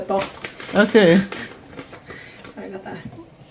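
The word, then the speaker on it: 떡: I'm trying to pronounce top. Okay, when you say tteokbokki, you say boki at the end. This is just the top.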